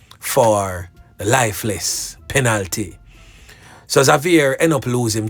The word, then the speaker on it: Xavier: So Xavier, I know everybody's been saying Xavier, but we pronounce it Xavier.